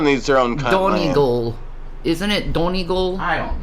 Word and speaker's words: Donegal: The part of Ireland you're from is pronounced Donegal.